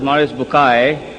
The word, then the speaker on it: Maurice Bucaille: and a scholar of Quran Dr moris buk pronounced as moris bukai am I right doctor matter okay uh he's